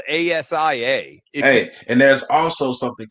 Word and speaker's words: A'ja: hold on a sec a apostrophe j a is pronounced asia why was she not